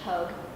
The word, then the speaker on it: Pogue: Bekah Pogue, rhymes with Vogue.